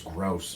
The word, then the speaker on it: Grose: sure kids are cruel my last name's gross by the way it's spelled g-r-o-s-e yeah you don't tell